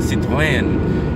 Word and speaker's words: Citroën: you go the so Peugeot, you know, Peugeot, Citroën, yes, that's how you say it, Citroën. You see how sexy it is when you say it in the correct pronunciation, yeah.